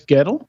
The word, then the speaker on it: Goettl: I'm hoping Goettl is the right Goettl, pronunciation.